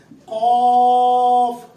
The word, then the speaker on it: قاف: یہ زبان کا پچھلا حصہ اوپر کے تالو کے ساتھ لگتا ہے. قاف. اور تین حروف ایسے ہیں جو کبھی باریک ہوتے ہیں اور کبھی پور.